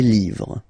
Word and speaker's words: livres: write livre, and then you put S at the end, but then you don't pronounce it. Les livres.